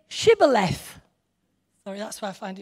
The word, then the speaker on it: Shibboleth: If he replied no, they said, "All right, say Shibboleth." Sorry, that's why I find it funny. Try saying that. Shibboleth. If the person replied Sibboleth, because he could not pronounce the word correctly, they seized him and